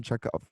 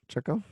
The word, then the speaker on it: Chekhov: a check off or is how you say check out like like checkoff's gun check off i don't know what you're talking about the writer anton chukov chekhov i don't know that